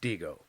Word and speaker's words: Dihigo: apparently it's pronounced Dihigo, Okay.